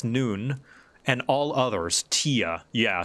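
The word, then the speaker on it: Nunh: are only two positions available breeding males noon pronounced noon and all others tia yeah so if you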